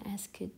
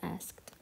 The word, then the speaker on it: asked: في كثير ينطقونها asked. No, it's pronounced asked.